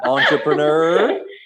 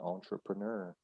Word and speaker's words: entrepreneur: do it as well entrepreneur it comes from french it's really hard to say yeah but we do keep it close to the original french pronunciation entrepreneur entrepreneur and i am kind